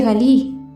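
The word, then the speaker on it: גליל: el testimonio de ella Galilea en hebreo significa círculo o rollo y se pronuncia galí una zona ubicada al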